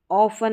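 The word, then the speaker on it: often: टी इन सभी में silent है। ऑफन है। इसको ऑफन या ऑफन भी पढ़ा जाता है।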